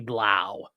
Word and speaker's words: bleu: Amon Reza says that bleu was the best French pronunciation I've heard on this channel. Yes, well, it could also be blau. The blau.